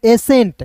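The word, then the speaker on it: ascent: एस और ई का होता है ए एन टी को एंट एसेंट क्या पढ़ेंगे एसेंट देखिए आप खुद से प्रोनाउंसिएशन कीजिए प्रोनाउंसिएशन कीजिए दोस्त यहां पे समझिएगा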